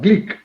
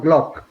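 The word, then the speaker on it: Glück: the nobel prize winner gleek not glock the pronunciation is greek like i translated her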